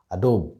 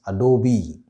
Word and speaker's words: Adobe: also from other industries many people pronounce this wrongly as adobe but the right way to pronounce this brand name is adobe adobe right i'm sure most of